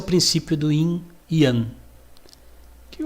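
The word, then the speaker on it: yin-yang: Esse é o princípio do inan. Que o leigo vai falar ing yang, né? Você aqui na unidade você já sabe a pronúncia correta.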